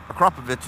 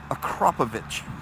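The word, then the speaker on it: Akrapovič: That Akrapovic is a little bit louder.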